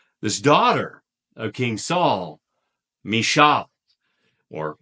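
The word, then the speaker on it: Michal: daughter of King Saul mishal or we sometimes pronounce her name Michael so Michael loves David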